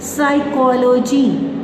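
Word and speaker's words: psychology: पी इज़ not pronounced at the beginning of many words using the suffix side and PNE न्यू। साइकोलॉजी, pneumonia, ये बहुत important dictation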